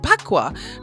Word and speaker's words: Bagua: We are now going to introduce to you the Feng Shui Bagua map. Now, Bagua, with a P, it's pronounced with a P, but it is spelled Bagua.